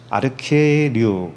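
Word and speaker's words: ἀρχιερεύς: 히에류가 제사장이란 뜻인데, 그 앞에 아르케라고 하는 그 우두머리라고 하는 단어가 붙어서 이 아르케류 이렇게 발음을 하고 있어요.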